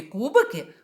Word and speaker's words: кубики: позначає наголос тому що у нас у слові кубики наголошений перший склад Тепер давайте візьмемо ось